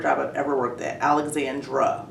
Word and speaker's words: Alexandra: Okay, so I called you by your nickname, but your name is actually Alexandra. Correct. That's the correct pronunciation.